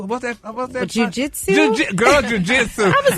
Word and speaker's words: jiu-jitsu: How do you pronounce that word? Jins Su. What's that? What's that word? Jiu-jitsu.